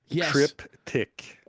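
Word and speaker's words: triptych: And she says pronounced trip tick.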